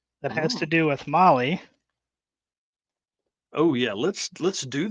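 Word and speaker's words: Mahle: and for all you podcast listeners out there Molly is spelled m ahle e all right dude show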